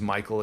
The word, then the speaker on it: Mikaal: It just means it's usually mispronounced initially the first time by people, but my name is Mikael. It's m i k a a l.